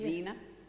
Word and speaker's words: Zena: And Zena as in warrior princess.